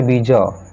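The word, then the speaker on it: bizarre: इसका प्रोनंसिएशन होता है विज। इसमें आर इ ये उच्चारण नहीं किया जाता है।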